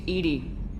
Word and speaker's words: EDI: airlock is a jar why are you named Ed Ed is the phonetic pronunciation of eedi that is an acronym for